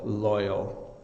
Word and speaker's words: loyal: on pronunciation with L, you have to have your tongue, it's behind your top teeth, so it's loyal.